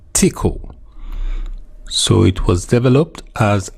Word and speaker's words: Tcl: abbreviated to TCL and commonly pronounced as tickle so it was developed